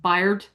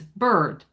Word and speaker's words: bird: It's still we don't say beard beard or bard, right? It's bird. B bird and word rhyme.